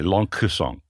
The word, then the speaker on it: Lencquesaing: you're not going to hear the C they're just going to roll over it yes yeah yeah but it sounds like youd like to say long song the long I've been